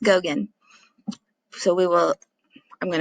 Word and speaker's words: Gauguin: name is right here i know it looks like gal gwen or something else i think it's pronounced gogen so we will i'm